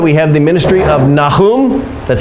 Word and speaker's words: Nahum: of time that we have the ministry of Nahum that's how you say his name n can